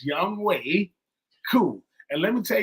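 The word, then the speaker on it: Young-hoe Koo: on Shannon Sharp's podcast he said is his name Young ho his name is not young ho he know better he know his name is Young way even though it's spelled h OE is Young way cou and let me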